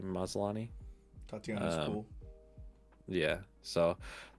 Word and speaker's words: Maslany: I think that's how you say her name, Maslany.